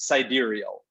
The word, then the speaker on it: sidereal: So it's pronounced sidereal. Sidereal, yeah. Right, sidereal.